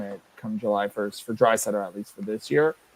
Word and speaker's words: Draisaitl: And Zylstra says the only way Draisaitl, not Drysdale as it's spelled, is if his new extension comes under 14 per.